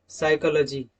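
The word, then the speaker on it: psychology: P is silent when a word begins with ps, pn, pt।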